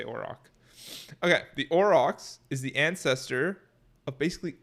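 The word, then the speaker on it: aurochs: or Oro I orox I would say this pronounced orox a o r a u r o c h at the bottom bottom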